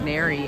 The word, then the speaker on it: Neri: They think her name is Mary, but her name is Neri, and they're like, no, you're saying her name wrong.